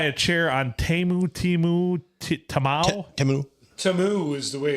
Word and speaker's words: Temu: Tamu is the way it's pronounced on the advertisement.